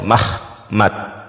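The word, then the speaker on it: מַחְמָד: Ini sebelumnya Ha dibacanya Mahmad. Oke. Mahmad nih seperti ini pelafalan nih. Pelafalannya mahmad.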